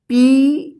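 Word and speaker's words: pay: तो इस ए का यहां पे ए उच्चारण हो रहा है, तो इसका रूल से क्या है, रूल कि जब किसी वर्ड में ए रहता है और लास्ट में ए के बाद वाई या आई रहता है, या बीच में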